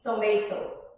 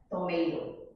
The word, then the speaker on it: tomato: o clssico exemplo da pronúncia da palavra tomate ingls britânico diz tomer os americos eles tomato tá other differences are